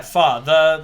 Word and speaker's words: pho: It's pronounced pho. Yeah, pho.